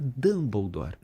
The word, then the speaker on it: Dumbledore: Se você só lê, o Dumbledore se escreve Dumbledore. É verdade. E o disléxico Dumbledore disse tal coisa. Ele vai ouvir. Se fala Dumbledore. E se fosse só ouvindo, como é que eu escrevo Dumbledore?